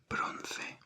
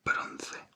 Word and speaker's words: bronce: Then if you want something to be bronze, in Spanish bronze is bronce, bronce, bronce, bronce.